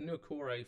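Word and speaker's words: Niukore: I don't pronounce the first name, but it's Nukore for the last name, I know that much.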